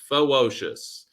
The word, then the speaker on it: Fewocious: And for people who struggle to pronounce his name, the way I think of it is ferocious with a W. Fewocious.